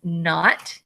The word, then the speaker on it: knot: KN, the K is silent, so this is knot.